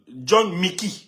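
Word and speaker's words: Jhon Micky: Ça va être sur John, l'Ivoirien John, c'est John, John Mickey. John Mickey. Ouais, il s'appelle John Mickey. Ouais, John Mickey. Son compte c'est John. Ce John s'écrit J-H-O-N et Mickey c'est M-I-C-K-Y.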